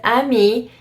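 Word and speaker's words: amie: you would say PE but Amy because Amy is just showing that a female friend you would not pronounce the e at the end and that's because it follows a vowel so my and this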